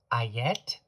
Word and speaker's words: Etteilla: Double L's have more of a what Americans would think of, or English speakers would think of, as a Y sound. So his name is Ayette, and the reversal of his name is Etteilla.